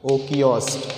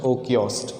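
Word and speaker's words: οἶκος: ecology means what so in a greek language echoes o kiosk we are pronounced as okios okios okay the meaning here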